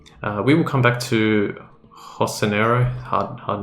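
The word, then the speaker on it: Jocinero: We will come back to Hosanero, hard name to pronounce. I always want to say Josanero, but yeah, Hosanero, I think is how I pronounce it.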